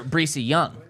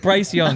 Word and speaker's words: Bryce Young: Well, all these you dudes guys know have Breesy different Campbell or Breesy Young, the number 1 overall pick. No, that's not how you say it. It's Bryce Young.